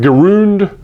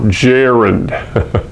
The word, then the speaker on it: gerund: see it you wonder how am I supposed to pronounce that gah gerund garuda no gerund that's one of the